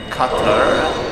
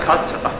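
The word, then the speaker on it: quatre: Cutter. Oh, cut. Sorry, guys. I mispronounced the French number. How you say four in French, which is cut.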